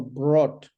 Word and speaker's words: brought: No, brought.